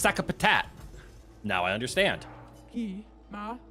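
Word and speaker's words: Sakapatate: Okay, it's pronounced Sakapatat.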